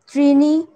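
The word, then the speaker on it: ত্রীণি: দ্বে একম দ্বে ত্রেণী এখানে দীর্ঘ আছে তো সেই জন্য একটু বেশি সময় দিতে হবে ত্রেণী চতুড়ি পঞ্চ ষড সপ্ত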